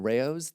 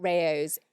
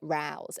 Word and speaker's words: Rao's: So John has written out Rao's phonetically. And the reason he's done this is when we talked about this brand in the past, I kept calling it Rouse.